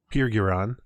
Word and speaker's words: Pirgiron: as we step outside the Pirgiron, I looked it up on the Forgotten Realms wiki, the pronunciation. Nice. It is Pirgiron.